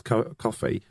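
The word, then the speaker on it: Ko-fi: the donations faded Daddio I think it's pronounced coffee and people says uh no no saying it wrong it's coffee no I haven't tried it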